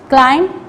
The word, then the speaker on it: climb: Number 1 is lamb, comb, climb, crumb, thumb. When we say these words, we don't pronounce B because B is a silent word.